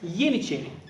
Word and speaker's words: Yeniçeri: In Turkish, it pronounced as Yeniçeri, meaning new soldier.